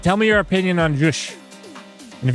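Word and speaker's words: zsh: me your opinion on jush and if you don't pronounce it jush and call it the Z shell that I'm sure that they meant for it to be called jush I'm almost positive you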